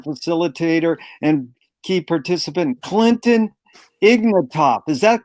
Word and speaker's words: Ignatoff: It's an honor and a pleasure to be here with our facilitator and key participant, Clinton Ignatoff. Is that correct? How to pronounce it?